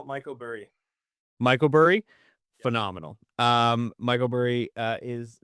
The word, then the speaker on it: Mykoburi: I call it Mykoburi.